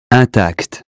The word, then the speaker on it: intact: That consonant tells us not to say in or im, but un. Here's how to say them correctly. Repeat them after me. Imbécile, inclination, information, injuste, important, instant, intact.